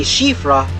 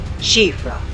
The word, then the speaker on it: Siofra: I got in the Siofra River. Yes, that’s how you pronounce it, ‘she-fra,’ and it’s in Irish.